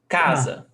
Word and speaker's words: casa: Casa, 2 syllables. Ca, za. Which one is the stressed syllable? Casa. Ca. Yes, so casa. Ca is the stressed syllable.